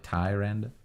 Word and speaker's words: Tyrande: So it's more like Tyrande.